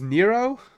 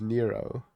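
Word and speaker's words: Nrvnqsr: Hey, according to according to Doodle AI, pronunciation of whatever is Nero. This is because the name is a deliberate word play on the Hebrew gematria for Nero Caesar where the letters add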